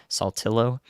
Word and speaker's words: Saltillo: and Saltillo in Tennessee, Saltillo, and to get the southern pronunciation there.